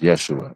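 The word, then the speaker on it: ישוע: So the pronouncing of Joshua and Jesus is the same thing. We would both be pronounced as Yeshua, right?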